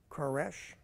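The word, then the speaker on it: Koresh: after cus the great does anybody remember Cyrus's the way he would pronounce his name Kesh okay the century after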